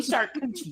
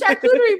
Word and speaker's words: charcuterie: That is the official mispronunciation of the word charcuterie. It's shark coochie.